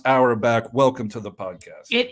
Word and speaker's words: Auerbach: I hope it's pronounced Auerbach.